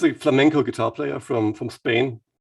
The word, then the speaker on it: flamenco: playing this flamingo stuff wait are you saying flamingo is that flamenco is that a type of guitar not the kind i'm not sure if i'm pronouncing it correctly the english way but it's the music from spain okay flamenco flamingo i'm gonna